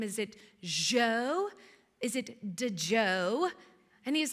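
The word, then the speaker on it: Djo: It's the song called End of Beginning by the artist Joe. Now, listen, it's spelled d j o.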